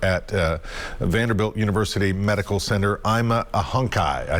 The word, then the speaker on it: Aimalohi Ahonkhai: infectious diseases over at vanderbilt university medical center i'm a hunkai i said it right i'm a hunkai so good to have you with us and